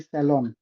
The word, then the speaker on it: salon: इट इज नॉट सैलून, इट इज सैलून। अगर French में हम बोलेंगे तो इट इज सैलॉन, सैलॉन, एन is silent, and Indian pronunciation would be like सैलॉन।